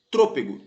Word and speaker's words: trôpego: paroxítono na letra C trôpego tropego proparoxítono que é antepenúltima sílaba é mais forte agora letra D você